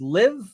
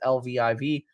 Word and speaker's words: Lviv: I believe you pronounce this Liv, but I'm probably entirely wrong about that. So it's Lviv.